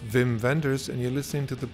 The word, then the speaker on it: Wim Wenders: you can hi this is whim Wenders correctly pronounced vim venders and you're listening to